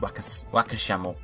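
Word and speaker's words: ワカシャモ: It's spelled with a Y, but it's actually pronounced with a H, Wakashamo.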